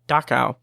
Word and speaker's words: Dachau: name of the town, which I keep mispronouncing in my head when I say it out loud, but it's Dachau.